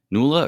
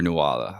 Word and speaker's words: Nuala: It's spelled Nuala. But I when I hear it, it sounds like Nula. Yeah, exactly. So, I'll I'll try to say Nula.